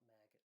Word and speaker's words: Magit: like to call it Maggot because I think it's kind of cool, but it's probably pronounced Magit or something that rhymes with magic.